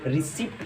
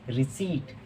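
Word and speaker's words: receipt: ज़्यादातर लोग इसको रिसिप्ट पढ़ते हैं, तो इसकी राइट प्रोनाउंसिएशन रिसिप्ट नहीं होती, इसको कहते हैं रिसीट। जी हाँ, रिसीट। इसमें जो P होता है वो साइलेंट होता है।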